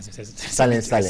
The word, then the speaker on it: Salin Salin: C'est ça, j'espère que je prononce bien. Effectivement, Salin Salin. C'est bien prononcé.